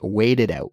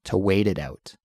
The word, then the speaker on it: wait it out: Wait it out, wait it out. It's not a harsh T sound. It's more of a softer, almost between a T and a D sound, but that's how we pronounce it, to wait it out.